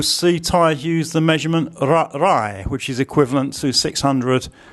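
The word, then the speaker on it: ไร่: So we have the short I again, and then an R consonant, and swap those round for pronunciation. Rai, rai, rai. So you see there the two vowels that we did today have exactly the same sound, that short I.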